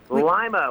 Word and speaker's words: Lima: it's like line but think of lima bean right and then you'll remember it is it named after a lima bean is there a lot of Lima beads growing around there